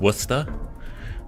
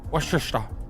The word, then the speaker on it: Worcester: Ah, not Worcester. Worester.